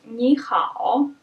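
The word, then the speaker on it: 你好: of such combination is nihao in phrases like this the first syllable changes into second tone so it becomes second and third other examples are cli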